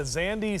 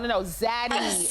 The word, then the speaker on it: Zaddy: Well, I just want to know if am I a Zandy snack or? No. Zaddy. It's Zaddy. You gotta roll it.